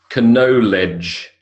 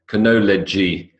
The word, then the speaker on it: knowledge: So knowledge, suppressed K, W, D, and E.